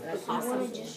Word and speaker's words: opossum: Do you see how the word is opossum? That O is actually silent. Yeah. It's a really strange word. We call them possums.